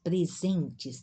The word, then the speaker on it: presentes: uma S vários presentes presentes também uma ente vogais é o som da z quem sabe inglês tem